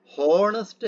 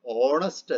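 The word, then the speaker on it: honest: ഹോണസ്റ്റ് എന്നല്ല നമ്മൾ പറയുക, മറിച്ച് ഓണസ്റ്റ് എന്നാണ് പറയുക.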